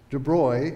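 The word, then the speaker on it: de Broglie: physics the next is is debris and that's French so I'm pronouncing it correctly proposed that since light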